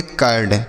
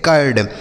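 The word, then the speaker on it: curd: यू के साथ अगर केवल आर लिखा रहे तो इस यू का उच्चारण अ हो जाता है।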